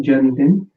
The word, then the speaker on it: जन्मदिन: So it's the with e, okay, janmdin, and then you will say kab hai.